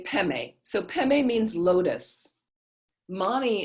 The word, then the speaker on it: Padme: And sometimes you see it written Om Mani Padme Hung. The Tibetans usually say Peme.